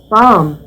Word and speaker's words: bomb: Climb, bomb, doubt, numb. Observe, não se pronuncia o B. Climb. Não, tá errado. Seria climb. Não sai o B. Bomb. Não sai o B final.